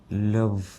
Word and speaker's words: love: അപ്പം V pronounce ചെയ്യുമ്പം W പോലെ പറയല്ലേ. വി എങ്ങനെ പറയേണ്ടത്? വ് എന്നാണ്. വ് കണ്ട ഈ രണ്ട് പല്ലുകളിൽ കാണാം. അത് ഈ താഴത്തെ ലിപ്പിൽ വന്ന് മുട്ടിയിട്ട് can you do love? ലവ്.